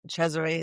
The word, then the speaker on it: Cesare: And also your name um cuz it it's Caesar but you were saying in the green room that it's Italian root so it was probably historically chereet. Exactly. Chze is the pronunciation Italian.